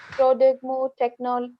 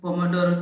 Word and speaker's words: Pomodoro: like we follow that Prodegmo technique. Yeah, Okay. yeah, yeah. Sorry, I didn't pronounce it rightly, but Pomodoro.